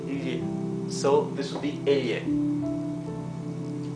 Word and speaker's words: elle: Double L has its own pronunciation. It would be L, similar to the GL in Italian. So this would be elle, right?